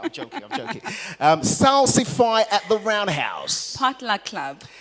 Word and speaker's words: Salsify: So, we like to pronounce it Salsify. It's named after the root vegetable.